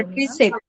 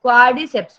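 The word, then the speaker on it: quadriceps: क्वाड्रिसेप। क्वाड्रिसेप। गलत, क्वाड्रिसेप्स muscle, ठीक है।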